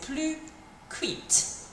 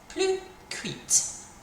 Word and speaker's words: cuite: So we're going to have to say plus cuite. Plus cuite.